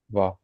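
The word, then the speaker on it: は: You don't have to know this right away. We'll be studying this next week. And you don't pronounce it as ha, you pronounce it as Va. va.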